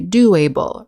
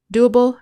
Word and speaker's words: doable: word easier to pronounce otherwise you might think we should say doable readable manageable but it's ubbel doable readable manageable next we